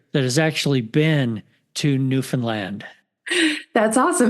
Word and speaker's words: Newfoundland: all the way to newfinland did I say that right Andrea you sure did thank you I've been practicing before we started recording Andrea taught me the correct way to say it New Finland if you don't know